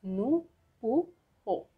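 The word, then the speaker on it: nous pourrons: The next one is we will be able, which will pronounce as nu pu ho. Okay, nu pu ho.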